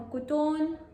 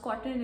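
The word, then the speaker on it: Koton: Anxiety हो रही थी because it's not pronounced कॉटन, it's pronounced कुटोन. At least that's what I think.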